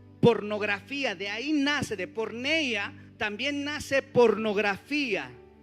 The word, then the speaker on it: porneia: Porneia en griego, ¿cómo se dice? Porneia.